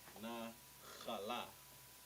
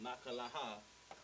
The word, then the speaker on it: Nakhala: This is Nakhala. Not Nakalaha, Nakhala.